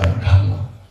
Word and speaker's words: Dhamma: Like DH. Da. So Dhamma.